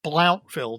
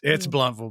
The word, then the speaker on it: Blountville: me something new because I always thought it was Blounteville, Tennessee. Well, I'm from the South, so we don't pronounce very well. So I always called it Blounteville. It might be Blounteville. I don't know. It's Blountville, Bill.